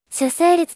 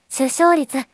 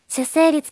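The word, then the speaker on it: 出生率: のことですね主成立と読む方が多いそうですが正しくは首相率ですただし種成立という読み方も慣用読みとして使われ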